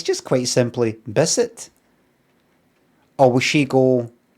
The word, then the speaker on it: Bisset: Bisset.